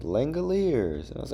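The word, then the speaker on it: Langeliers: I used to call him Langlier. I had no idea how to say his name.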